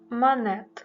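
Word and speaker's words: Monet: підпис підпис едуарду просто монет у французькій мові тут є ще літера Т яка не читається як і у прізвищу Клода пам'ятаємо що все ж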